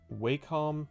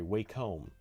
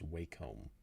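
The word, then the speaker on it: Wacom: should talk about this this is the waycom or sorry wcome I've recently I've recently discovered learned whatever that the proper pronunciation for the company's name is wome uh I object because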